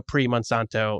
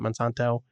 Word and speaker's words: Monsanto: Uh just I love the idea of like these ingredients were, you know, premonsto. Is that how you say it? Monsanto.